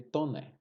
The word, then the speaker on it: Taunay: do Visconde de toner em se escreve Taunay mas se pronuncia Visconde de toner a uma precisão de